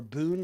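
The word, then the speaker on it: bún: for Vietnamese egg rolls and for Boon or Boon is how it's pronounced um which is a uh which is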